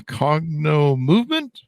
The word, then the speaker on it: Cognomovement: coach a uh what do how do I pronounce this correctly Katie a cogno movement you got it yep perfect cogno movement practitioner